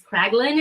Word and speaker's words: Kraglin: I think it's Kraglin is how you pronounce the name.